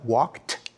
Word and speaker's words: walked: in three different ways when we say he walked we pronounce the Ed like a like a t walked when we say jogged